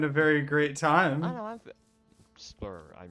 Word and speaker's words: SSBlur: I'm Splur. Are you pronouncing the S? The S's are silent. They stand for silent S's. Splur.